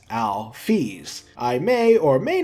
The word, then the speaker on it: Alphys: Next is a rather minor bit of lore, but Toby actually gives a pronunciation guide for Alphys' name. He says it should be pronounced Alphys.